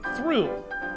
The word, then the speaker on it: Thoreau: but it's not called thoreau and m surprisingly it's called through and m okay it's